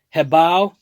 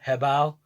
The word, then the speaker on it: HoBao: so anyways here you go here is the head bow and it's actually pronounced heav i'll like h e bo w head bow had a nice little conversation with them and